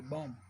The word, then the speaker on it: bomb: ठीक है, तो इसको आप बॉम्ब नहीं पढ़ोगे, बॉम्ब, इसमें बी साइलेंट है, इसमें हमारे पास बी साइलेंट है। दिस इज बॉम्ब, कैसे पढ़ोगे आप, दिस इज बॉम्ब।